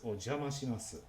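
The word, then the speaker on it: お邪魔します: when entering a home is ojamas and they always say it like that in that flat tone is to be an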